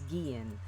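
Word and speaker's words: Guillén: Vanessa again yes pretty how to pronounce her name is Guillen like subscribe ID and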